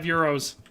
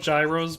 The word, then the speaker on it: gyro: for the Super Chat always loved that five euros keeping me alive I love Gyros by the way like the Greek food a